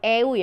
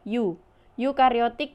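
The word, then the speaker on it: eukariotik: bakteri eukariota kini bukan bacanya bukan deui ah you you kariotik yang sudah memiliki membran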